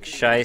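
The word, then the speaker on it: Scheiß: Nick Scheiss spelled with an SZ, so shouldn't make an S sound. Oh, I'm not saying it like I'm saying it in proper German. I know it's Scheiss. It's just ridiculous, stupid dialect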